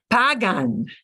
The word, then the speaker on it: pagan: the M yeah but the conjugated verb usually won't punch punch the end of syllable it'll punch the second to last so Pagan pagan foreign the First Act